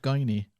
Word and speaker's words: Guiney: Now, do you pronounce that Guiney or Guinea? Guiney. Well, in Ireland, we know it's Guiney. Yeah. But I'm just saying in the States it's a Guinea.